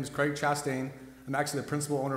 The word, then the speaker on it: Chastain: Craig Chastain.